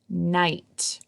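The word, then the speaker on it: knight: All right, this word is night. Has a silent K at the beginning, and actually it kind of has a silent GH there too.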